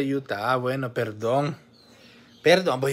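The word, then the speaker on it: Utah: sido sucio Estados Unidos dice se dice Yuta dice Simón deberías de aplicar para la visa canadiense primero Dios Y si te la dan Aquí te esperamos dice se pronuncia Yuta Ah bueno perdón perdón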